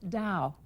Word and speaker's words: Tao: is essentially Chinese and it's spelt T a o and pronounced Dao this little exercise claims